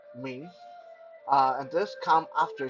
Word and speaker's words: Ming: then after sin there's a mean m-i-n-g mean uh this is the name